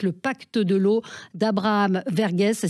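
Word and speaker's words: Verghese: une saga magnifique le pacte de l'eau d'Abraham vergess ça s'écrit V r G H e s et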